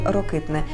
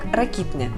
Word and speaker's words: Рокитне: в селі під назвою Рокитне яке вона російською вимовляла як ракіпне і це ракіпне завжди